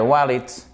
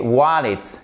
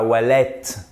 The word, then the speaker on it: wallet: The man ran off with my wallet. Et wallet, et pas wallet. OK? Wallet. Ici, vous voyez, c'est un I court et ça se prononce quasiment comme un E accent aigu.